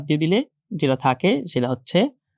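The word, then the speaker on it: ح: এই ফোঁটাটাকে বাদ দিয়ে দিলে যেটা থাকে সেটা হচ্ছে হা। এটা হচ্ছে হা, নরমালি হা অনেকটা বাংলা হয়কার হায়ের মতো। আর এই যে হাটা আছে এটা উচ্চারণ করতে হয়, আমরা যে খাবার খাই,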